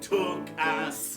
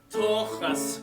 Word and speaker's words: tuchus: Feel the H. Try not to spray. Way deep down in your throat.